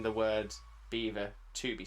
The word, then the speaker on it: Belvoir: There's a castle in Leicester, which is known as Beaver Castle. Beaver Castle, like the animal beaver, but it's not spelt like the animal beaver, nor is it spelt like you would imagine the word beaver to be spelt.